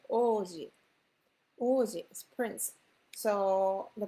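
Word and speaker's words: 王子: So we write Ouji, but we pronounce the Oji.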